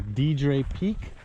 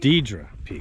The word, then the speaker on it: Deidre: gonna attempt to do DJ peek I pronounced that correctly deidre excuse me so we're starting on